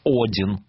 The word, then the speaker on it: Один: Извините меня, уважаемая Тамара, я автор этого названия, эта передача называется «Один». В честь бога Одина.